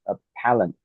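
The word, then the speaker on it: appellant: So you stress. Yeah. You stress on the second syllabus. Appalent.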